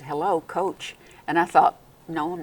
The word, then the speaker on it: COAACH: to see you and I think you call it coach we do we call